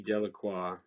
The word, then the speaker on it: Delacroix: and harry jones and dicky delacroix the villagers pronounced this name de la croix eventually made a great